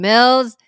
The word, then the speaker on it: Mills: hi my name is Karine Mills it rhymes with bills you know the one